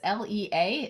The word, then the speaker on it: Lea: so it's and my middle name is Le EA it's pronounced Lee like Le but it's actually Le ea uh and my and